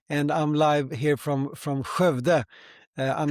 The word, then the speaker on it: Skövde: live from Jerusalem, and I'm live here from Skövde. I'm not going to ask you to pronounce it. It's you have this strange word. It's easy. Skövde. Skövde, yeah, that's good.